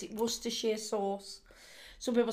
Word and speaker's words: Worcestershire: because there's worcestershire worcestershire it's actually sheer what we say here we don't say worcestershire we say worcestershire that's how you pronounce it worcestershire sauce some people say